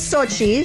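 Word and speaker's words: Xochi: so um yeah so this is sochi spelled with an x i like this rhythm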